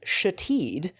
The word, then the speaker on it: Shithead: It was pronounced Shatid, but was in fact spelled shithead.